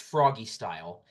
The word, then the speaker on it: Froggy Style: movie uh is it froggy so it's it's pronounced froggy style and it's it's spelled in a really weird